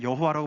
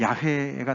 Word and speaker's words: 야훼: 우리 성경에는 여호와라고 번역이 되어 있지만, 그 여호와라는 그 단어는 이렇게 합성된 단어이기 때문에 좀 더 맞는 그 발음은 야훼가 더 맞다고 그러죠.